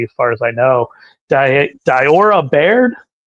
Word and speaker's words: Diora Baird: Diora Baird. Diora Baird.